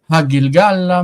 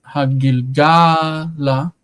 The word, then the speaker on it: Hagilgala: el hamachane, and then Hagilgala means in the direction of Gilgal. The stress, notice, is Hagilgala, right? The stress is on ga, and that is common